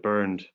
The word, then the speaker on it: Bernd: Is it Bernd? So you just have to unmute your microphone. Yes, thank you. Thank you for this introduction. You pronounced it correctly. It's Bernd.